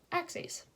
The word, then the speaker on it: axes: The plural of axis is axes and is pronounced axes.